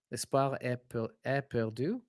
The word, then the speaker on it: L'espoir est perdu: Dave, it's not EST, but like East. But S, don't pronounce the T.